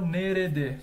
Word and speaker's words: nerede: par de par ó aqui ele pronunciou nerede só que é interessante saber que também podemos pronunciar nerde Então tá correto curiosidade tá lembra aqui